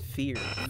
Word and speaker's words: feAR: and this is oh i'm bobby joey also mispronounced the name of his own show it's fear beer oh my god you know i'm i'm